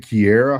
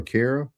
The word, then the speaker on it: Kira: She said, hey, is it Kiera, how you say it, or Kara? Kira.